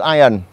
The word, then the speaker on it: Iron: Đó, Thông lưu ý chữ Iron, chữ I-R-O-N, đọc là Iron chứ không phải là Iron.